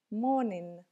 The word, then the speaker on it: morning: наступило повторяем все вместе Обратите внимание на то что у этого слова последняя буква не читается всегда когда у нас окончание инг инговое окончание мы не читаем последнюю букву а н стоящая перед ней получается звонкий носовой звук morning morning утро день